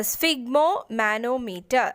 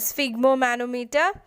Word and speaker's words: sphygmomanometer: the measuring blood pressure the answer is uh sphygmomanometer that's how you pronounce this uh so it consists of inflatable